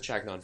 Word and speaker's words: Chagnon: last name uh well if you're going to pronounce it the fancy French way it would be going to say that we pronounced it we' pronounced it chagnon for Generations you're doing no har